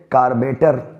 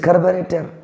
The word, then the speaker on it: carburetor: लोगों को मैंने सुना कहते हुए कार्बेटर, लेकिन ये कार्बेटर नहीं, इट इज़ कार्बोरेटर।